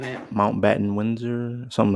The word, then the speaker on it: Mountbatten: It's Mount Bottom.